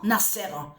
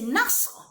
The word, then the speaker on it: Nasr: On a constaté que sur ça, que vous prononcez en disant Nasser. Mais ça ne se dit pas Nasser de tout ce que vous racontez. C'est Nasr.